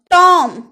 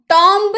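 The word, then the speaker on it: tomb: टॉम, टॉम्ब नहीं, टॉम, टॉम्ब यानी कि समाधि।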